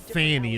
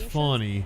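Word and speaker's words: Fani: no I'm saying it wrong or not it's not Fanny it's funny and so we're really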